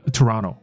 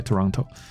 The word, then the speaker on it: Toronto: 那你知道很多 T 的发音有时候就变成不是 T， Toronto OK Toronto，所以多伦多人叫做 Torontonian OK Torontonian